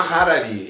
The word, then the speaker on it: Harari: Noah Harari. Eu falo Harari, mas tem um H. Antes a gente falar Honda, eu falo Harari, mas tem pessoas que pronunciam Harari.